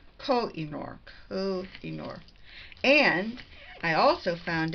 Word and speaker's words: Koh-i-Noor: said that I really didn't know how you pronounce the name of pencils that Koh-i-Noor. It's Koh-i-Noor.